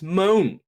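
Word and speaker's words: Moné: It is honestly just Moan. Not within, I'm not trying to say Moan Moan, it's just Moan. It's like there's no T to add to Monet. It is not how you pronounce Monet, which she wants us to call her.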